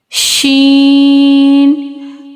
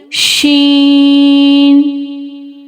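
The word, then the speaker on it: شين: Sheen pronounced as using middle of tongue to touch the middle part of palate.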